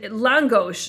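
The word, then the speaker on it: lángos: Langos is how they pronounce it.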